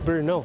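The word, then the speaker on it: Brno: town so this is Bruno which is the second largest city in Czech Republic next to Prague spelled with a b-r-n-o sounds like it's just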